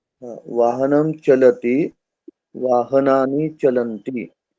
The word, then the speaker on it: चलन्ति: चलतः चलन्ति। तो चलंती, चलती दीर्घ नहीं है और लगभग इसके उच्चारण में दीर्घ होता है। जैसे वाहनम चलती, वाहनानि चलंती बोलते हैं ना। वाहनं चलति वाहनानि चलन्ति।